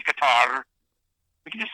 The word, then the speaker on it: Qatar: And it is Qatar, not Qatar.